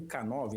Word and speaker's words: K9: Então, a pronúncia de canino em inglês é a mesma pronúncia da letra K e do número 9.